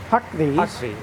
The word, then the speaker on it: Huckvee: In the early to mid 80s, General Motors made a number of these modified military versions of their Humvee, Huckvees. Rhymes with the Humvee. It's the Huckvee.